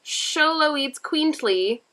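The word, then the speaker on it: Xoloitzcuintli: three thousand year old pronounced show low eats queently an aztec dog that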